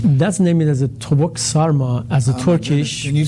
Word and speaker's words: sarma: That's named as a tavuk sarma, as a Turkish. Can you spell that for us?